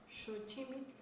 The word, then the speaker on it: Xochimilco: Bueno, y en el caso de Xochimilco, que esa sería su pronunciación, Xochimilco, el maestro Manuel Tlatoa escribe: Xochimilco viene de